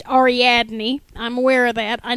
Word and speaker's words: Ariadne: thrown in there okay Arie uh is actually pronounced ariadne I'm aware of that I know I'm mispronouncing my own name because I like the pronunciation aradin better um AR actually comes from Greek